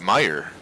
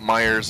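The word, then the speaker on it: Meijer: some Meyer oh yeah yes it's spelled Meyer we call it Myers a lot I mean I'm gonna go to Myers yeah measure major yeah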